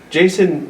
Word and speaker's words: Jason: Jason rhymes with chasin', Yeah.